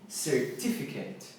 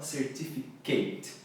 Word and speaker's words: certificate: E aqui, certificate, certificate, e não certificate.